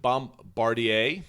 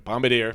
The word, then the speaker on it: Bombardier: the bomb was it bom bartier is that how you pronounce it i think it's bombadier bombay i miss an r got in there when i when i was reading a bombardier which makes more sense transportation with the mark